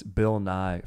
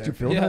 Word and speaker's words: Bill Nighy: And it's Bill Nighy from About Time. If you've ever seen that movie. Oh. Bill Nighy. Yeah. Nighy, yes. Yeah. You had me thinking the science guy. Yeah, Bill Nighy, the science guy.